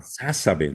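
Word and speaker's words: Sásabe: Sí, con acento en la primera. Sasabe, no, Sasabe.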